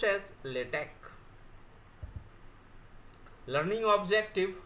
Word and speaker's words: LaTeX: from tau epsilon KY the last word is not X it is Chi for ki even though latex should be pronounced as latech learning objective how to